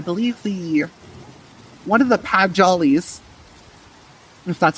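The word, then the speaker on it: Padjal: there by I believe the one of the pad jollies if that's how you said that word I've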